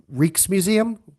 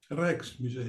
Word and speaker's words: Rijksmuseum: up until, and I'm I hate to pronounce this incorrectly, but the Reeks Museum. Rex Museum. Reichs Museum. Okay.